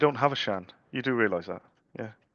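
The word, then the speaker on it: Siân: I went, "This is a Welsh name." And she went, "Yeah." She said, "Everyone everyone pronounces it wrong." She said, I said, "Well, how would you want me to pronounce it?" She went, "The correct way. It would be lovely." I said, "Shan," she went, "Yeah, that'd be amazing. No one else says my name how it should be said."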